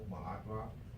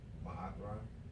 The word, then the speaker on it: Maatra: My name is, on the record, Maatra. It's spelled M-O-E-M-A-A-T, Maatra, dash R-A.